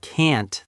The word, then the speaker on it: can: Yes, many learners pronounce can and can't the same way, but they sound different. Can in a sentence is usually weak and quick.